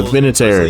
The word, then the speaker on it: Vinatieri: Is that how you pronounce it? Adam Vinatieri won four Super Yeah, Vinatieri, yeah, yeah, yeah.